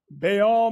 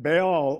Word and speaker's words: Baal: Now, I want y'all to understand that Baal, or many books pronounce it Baal rather than Baal. They go pronounce it ball, as like football, baseball, basketball.